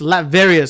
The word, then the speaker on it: Latveria: It's a it's Latveria. So he's speaking Latvarian.